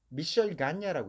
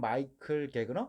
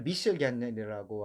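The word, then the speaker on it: Michel Gagner: 전 세계적으로 현재도 그 미셸 가냐라고 있습니다. 영어 발음을 하면 마이클 게그너 뭐 이 정도 되겠습니다. 근데 이 사람이 그 프랑스 지방 그러니까 캐나다의 퀘벡 쪽입니다. 퀘벡 쪽에서 이제 때문에 발음을 미셸 가냐라고 하게 되는데 이분이 미국에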